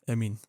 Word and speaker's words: Amine: at all, and it's high-profile names: Evander or Amine Harit. Amine Harit or Amina Harit? Emin. Both. He's Moroccan, right? Emin, I think. Oh yeah, that's how you pronounce.